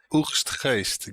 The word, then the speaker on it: Oegstgeest: The town is called Wiegstgeest. If you Oegstgeest. Oegstgeest? Oegstgeest.